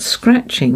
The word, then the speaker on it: scratching: now here we've got scratching there's a faint letter here the faint t which enables this word to be red the t isn't pronounced but later on they learn